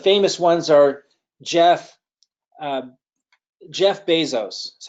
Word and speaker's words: Bezos: ones are Jeff Jeff Bezos is how he pronounces his name some people say Bezos but it's Bezos according to him and it's Steve Jobs